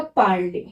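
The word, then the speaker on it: parlé: अगर हम ई के ऊपर एक्सेंट लगा देते हैं ये वाला, तो उसका प्रोनाउंसिएशन हो जाएगा पार्ले।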